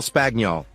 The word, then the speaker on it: Spagnol: Buck I said Cal spagnol he replied he pronounced it like spaniel clearing up a small